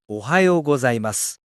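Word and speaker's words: おはようございます: Ohayou gozaimasu. Ohayou gozaimasu. Let me say that slowly for you. O-ha-yo go-zai-mas.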